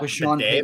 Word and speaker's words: Beatty: It's not Bidet like that, but it's spelled like this. It's Tyler Beatty, but he came out and actively said, "I want it to be pronounced bidet."